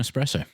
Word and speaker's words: espresso: Uh, it was an espresso. Good pronunciation, Mad.